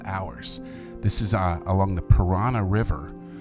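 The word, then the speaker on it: Paraná: This is along the Parana River. I wouldn't swim in a river named Parana, although it's spelled differently.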